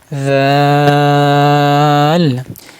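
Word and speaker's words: ذ: জাল জাল জাল জাল জাল, স্বাভাবিক উচ্চারণ হবে জাল।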